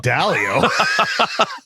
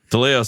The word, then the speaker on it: DeLeo: Who's Dalio? That's not you. DeLeo sounds cooler too.